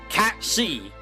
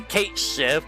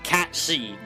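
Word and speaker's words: Cait Sith: Cat C. We say Kate Civ, but it's Cat C if you want to pronounce it properly, because it's Gaelic.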